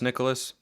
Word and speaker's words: Nyckoles: before Signing Day and his first name is pronounced Nicholas he didn't correct us when we said Nicholas